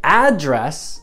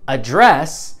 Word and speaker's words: address: from we say say address and that's a noun but we say address and that's a verb it's not true if